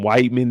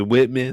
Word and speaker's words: Whitman: Now I know a lot of people be calling him white men in the chat, but his name is Whitman. So I don't know if y'all just don't know his name is Whitman or y'all think the E is silent or y'all might just be saying white men.